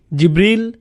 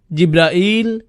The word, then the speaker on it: জিবরাঈল: আপনি কিভাবে জিব্রাইল আলাইহিস সালামের নাম বলেন, কিভাবে উচ্চারণ করেন তার নাম? জিব্রিল, জিব্রাইল, জিব্রাইল, জিব্রাইল, জিব্রিল, এই 5 ভাবে তার নাম উচ্চারণ করা হয়।